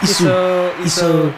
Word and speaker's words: Easu: Am I pronouncing your surname right? Yeah, Easu.